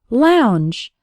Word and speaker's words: lounge: words like and Lady the o u has an ow sound like in the words how or loud and the letters NG